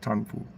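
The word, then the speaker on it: Trần Phú: It's called u the name of the street is called Tanpoo. Tanoo, right? Spelled T R A N P HU, but it's pronounced Tanpool, right?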